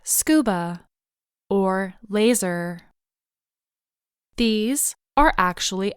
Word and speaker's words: scuba: We do not say each individual letter. We pronounce the acronym as a whole, scuba.